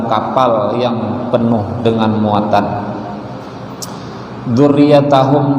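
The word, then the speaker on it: ذُرِّيَّتَهُمْ: Dzurriyyatahum di sini ada juga yang membacanya dzurriyyatihim.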